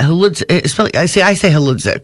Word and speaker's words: Hludzik: I say Hludzik. It's Hludzik. You don't have to pronounce the H.